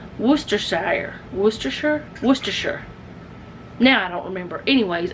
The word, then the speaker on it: Worcestershire: Google will tell you how to say it, but it's Worcestershire.